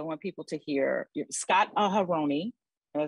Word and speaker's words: Aharoni: Scott Aharoni, did I say it right?